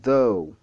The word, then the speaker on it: though: C'est though, though. Alors, le TH est prononcé différemment ici.